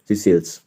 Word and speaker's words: Seychelles: पढ़ लो इसको, क्या पढ़ेंगे, SEY स्पेलिंग देख लेंगे, ठीक है, सीसेल्स।